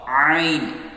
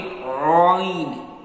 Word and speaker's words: ع: Ain. Yes, this Ain sound is also light. Be careful, don't read Ain. Ain. Don't do round your lips. Don't pronounce Ain.